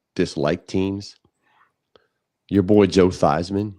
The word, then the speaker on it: Theismann: Your boy Joe Theismann. Remember he changed the pronunciation of his name so it could rhyme with Heisman?